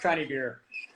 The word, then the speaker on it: Conybeare: Did I pronounce that correct? Yeah, it's Rob Conybeare.